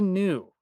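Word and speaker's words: gnu: Then there's Newton the new who has the absolute best code name, agent silent G. It's a perfect pun because the G in new is silent.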